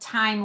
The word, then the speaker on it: thyme: And it's spelled thyme like the herb thyme, the number 4 T, just so everybody knows.